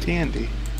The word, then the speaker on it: TND: See, I thought you would pronounce it TND. TND. Tandy.